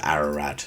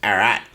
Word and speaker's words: Ararat: And people who are from Arat don't pronounce it as Ararat. They pronounce it as Arat.